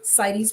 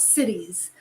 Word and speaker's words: CITES: Okay, they go to, it's literally CITES Plus. Could you spell that? CITES, not cities, CITES.